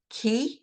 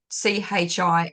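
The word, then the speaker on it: 氣: if you talk about, it's spelt CHI as in chi, what you would think is chi, but it's not pronounced that way. It's pronounced ki, is what I have found in my research.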